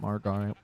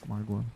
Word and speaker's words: Margwa: Everyone's going to pronounce it Margwire instead of Margwa.